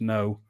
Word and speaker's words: Ngo: NGO. It's pronounced No. Austin No.